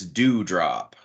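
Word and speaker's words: Doudrop: It's spelled weird, but apparently it's Dewdrop.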